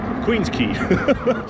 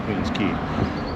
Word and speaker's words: Queens Quay: Queen's Key. I think it's Queen's Key. Let me see here. Yes, it is. It's It's spelled Queen's Quay, but I pretty sure it's pronounced Queen's Key.